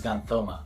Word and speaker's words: xanthoma: This is called xanthoma. It's written as yellow tumor and pronounced as xanthoma.